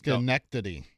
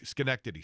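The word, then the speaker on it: Schenectady: Uh, pronounce this the the town name again for me, please. Skenctity.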